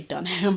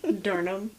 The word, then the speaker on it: Durham: North Carolina though the way that this is spelled I really want to say dunam but it's not Durham it's Durham okay look like Durham oh